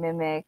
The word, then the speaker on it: MimiQ: Hi, I'm Mimic.